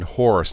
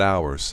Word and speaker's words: Horus: are you uh yeah it's pronounced Elementary seven Horus not ours I think it's I